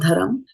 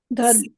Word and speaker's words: dharma: Is it not dharam? Dharma. Dharma. Dharma.